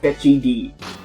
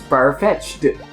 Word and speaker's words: Farfetch'd: He thinks it's called Fetchy D. And everyone's like, but it's spelled Far, F-A-R, Fetch, apostrophe D, so it's Farfetch'd. Like, that is a far-fetched comment.